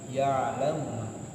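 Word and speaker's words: يعلم: Kemudian ada kalimat ya'lamu. Nah, di sini baru ada ain sukun. Jadi kita bacanya agak ditekan, tapi jangan terlalu berlebihan, nggak boleh. Ya. Nah, mohon maaf ya, terlalu tekan. Nah, biasa aja ya. Nah, cenderung tekan tapi agak halus. Ya'lamu ma. Ya'lamu ma.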